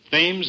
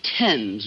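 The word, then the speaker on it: Thames: probably end it all by leaping into the fames River oh Mr Marx it's pronounced temps River that's what the stomach isn't it I shall leap into the temps River look you jump in the river you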